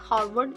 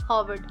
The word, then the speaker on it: Harvard: हावर्ड में यह जो हमारा आर है हावर्ड हावर्ड में आर साइलेंट है इट इज नॉट हारवर्ड इट इज हावर्ड number five पे है